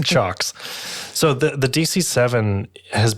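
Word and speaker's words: CIOKS: the this is a it's spelled c i o k s but it's pronounced chocks okay it's not pronounced Cox no it's also not clocks it's chocks so the the dc7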